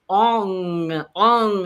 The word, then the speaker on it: ong: And it's actually, instead of om in Kundalini yoga, we use ong. So it's a really nasal sound.